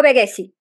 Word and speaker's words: Vegezzi: Oh pardonnez-moi vegi Comment prononcez-vous vegi vegi Oui c'est bon vegi alors oui essayez-le là il y est très